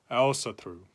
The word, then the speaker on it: Ásatrú: of different guises is Alice said through to use the modern Icelandic pronunciation of that word which seems to be